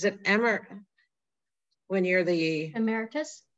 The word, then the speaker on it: emeritus: is the is it emmer when you're the emeritus emeritus that's right i never can say it correctly